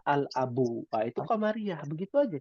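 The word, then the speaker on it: الأب: Abun dari abun ditambahkan alif lam, alnya dibaca al-abu.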